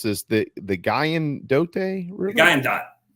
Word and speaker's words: Guyandotte: Now, how do you pronounce this? The Guyandotte River? Guyandotte River.